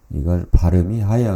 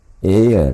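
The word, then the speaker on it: heirs: " 헤어 " 가 아니라 " 에어 " 라고 발음 해야 합니다 . " 상속인들 " 에서 'h' 는 묵음 입니다 .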